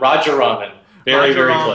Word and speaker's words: Rajaraman: today I have Raja raraman with us now I'm sure I butchered your last name is that right you know close enough it's a long one Roger Ramen there we go thank you uh so